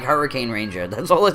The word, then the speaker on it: Hurricaneger: We have Hurricaneger. But what's the is Naiju Ninja? Naiju Sentai Hurricaneger. Hurricaneger. I can never enunciate the Hurricane. I'm like Hurricane Ranger.